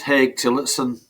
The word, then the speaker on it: Tillotson: It's just Hey Titson. Difficult, is it? But that's how you pronounce it. It's a Yorkshire name, I think.